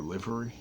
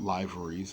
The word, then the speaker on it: livery: it gives you an option to pick your livery that's how it's pronounced Americans it's not libraries it's liveries and you basically have these four